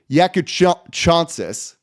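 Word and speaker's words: Jakučionis: So it's Kasparas, that's his first name. Yakuchonsis, yes. The guard from Illinois, Yakuchonsis.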